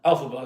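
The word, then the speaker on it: Elphaba: Alphaba. Alphaba, that's how you say her name.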